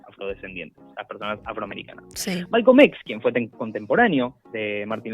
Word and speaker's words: Malcolm X: Imagínense el contexto del cual viene Malcolm X, porque muchas veces Malcolm X, yo pronuncio como el X, la X en inglés, porque es como más cortito, más simple.